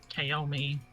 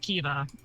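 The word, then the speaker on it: Caoimhe: my cousin is named kaomi oh Kiva yeah and it's it should be now pronounced Kiva but her mom named her kaomi gotcha so we spent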